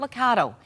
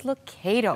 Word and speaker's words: Lucado: It's not Lucado. It is Lucado. That's right. It's a like joy tomato.